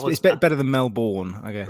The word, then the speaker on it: Melbourne: was like, okay, Brisbane, How do you say Melbourne, the city down south that begins with an M? Melbourne. I was saying Melbourne, and they were like Yeah, Melbourne, close enough.